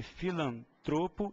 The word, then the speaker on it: filantropo: a mesma sílaba tônica eu tenho que falar sempre filantropo e misantropo são duas palavras também que no bate-papo Diário aparecem muito como proparo citas as pessoas costumam falar filanto e misantropo tira essa cab tônica